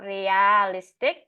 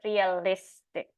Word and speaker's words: realistic: but realistic right so it's not realistic but realistic so the stress is shifted to the next uh next uh syllable and I said all